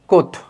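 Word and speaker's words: Comte: লেখা হয় কমতে। কিন্তু উচ্চারণ করা হয় কোথ।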